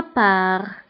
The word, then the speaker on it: part: Pour ma part. Pour ma part. من جهتي. Pour ma part. فهنا بالنسبة ل pour ma part فتكتب بالت في la fin ولكن لا تنطق. دونك انتبهوا هنا ت لا تنطق.